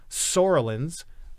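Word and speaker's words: psoralens: century called puva therapy sorellins is the p is silent P that's the chemical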